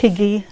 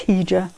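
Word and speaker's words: hygge: on with some sewing i can never pronounce this one heeja i always think it's higgy kim corrects me i'm sure it's i'm sure it's hija um it's that scandinavian isn't it so that's your christmas advent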